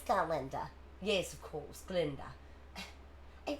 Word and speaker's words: Galinda: Although some of us still tend to favor form over content, Miss Glinda. It's Galinda.